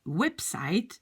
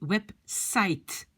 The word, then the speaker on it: website: la fin oui mais quand on le prononce en anglais c'est comme si ça se termine par t on du website website donc c'est comme